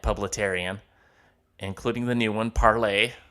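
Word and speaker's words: Parler: including the new one, Parlay, which looks like it's spelled parlor, P-A-R-L-E-R, pronounced parlay from what they're telling me.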